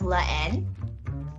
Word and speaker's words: La Haine: how to say it it's la n yes just like the letter n literally is that right professional